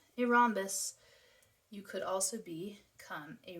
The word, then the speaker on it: rhombus: So rhombus with a silent H.